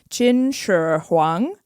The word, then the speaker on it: Qin Shi Huang: to botch it, but his new name is Qin Shi Huang, which means first emperor of Qin.